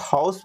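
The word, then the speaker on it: house: ये बताओ, आप लोग हाउस पढ़ते हो या फिर आउस पढ़ते हो।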